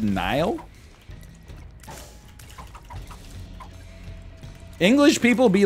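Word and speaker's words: Niall: make any damn sense how is n-i-a-l-l pronounced nile he's irish ah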